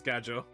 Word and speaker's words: Gadjo: It is Gadjo.